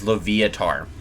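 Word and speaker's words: Loviatar: is recommended to ensure leviar uh or L Lev it's I think it's leviar is how it's pronounced or latar it is latar so latar is the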